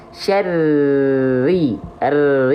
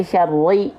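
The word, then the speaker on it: شَرِّ: Nah, jadi ditekan saja makhrajnya, dilafalkan saja syarri. Bukan syarri, bukan diperbanyak getarannya ketika tasydid. Tapi ditekan makhrajnya syarri ya gitu.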